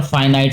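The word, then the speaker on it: finite: Otherwise it is called फिनिट और फाइनाइट sequence. ये pronunciation का डिफरेंस है, आप इसको फाइनाइट भी पढ़ सकते हैं, फिनिट भी पढ़ सकते हैं।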